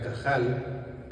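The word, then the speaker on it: קהל: Bueno, efectivamente, eh, iglesia, iglesia viene del griego eclesía y este a su vez tiene su paralelo en el hebreo que se pronuncia cajal y que significa asamblea,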